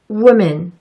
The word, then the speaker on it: woman: wood, wolf, window, woman. 맨 마지막에 woman을 우먼으로 발음하시는 분들도 계시더라고요. 꼭 기억해 주세요. woman처럼 발음하셔야 한다고요. woman.